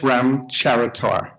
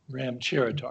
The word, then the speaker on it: Ramcharatar: Yeah, it's pronounced Ramcharatar. Ramcharatar. Yeah, just the way it's spelled.